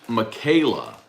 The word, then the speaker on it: Michaela: Stefan fry said she's laughing and how y'all pronounce her name so it's Michaela m-i-c-h -a-e-l-a yeah okay well he was laughing